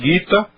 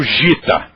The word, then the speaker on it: Gita: que marcou época e ninguém diz o Gita todo mundo diz o guita Então essa pronúncia já está incorporada à nossa cultura apareceu G é sempre Gu guita ah letra a